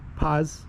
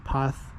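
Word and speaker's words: paz: Uh, the Spanish pronounced the Z uh with a sound, like a th sound. So, path. Okay.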